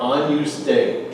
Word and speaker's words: Agnus Dei: So the first 2 words are Agnus Dei. Try it. Agnus Dei. Yeah, it's Agnus like onion.